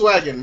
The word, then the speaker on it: Volkswagen: Where's the V? That's the V. That's how it's pronounced. Volkswagen.